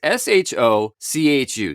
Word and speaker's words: shochu: Almost just think of pronouncing Spanish or maybe Italian. And if you do that, you're going to be pretty close. Now, Shochu is S-H-O-C-H-U.